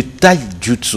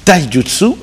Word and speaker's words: Taijutsu: À côté d'Eric Kindambou, je rappelle, Eric Kindambou est le président de la fédération de Taijutsu. C'est bien prononcé? Très bien prononcé. Taijutsu.